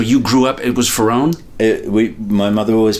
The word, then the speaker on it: Ferrone: And in the Lifeboat, there was a guy at the back of the boat, and his name was Ferrone.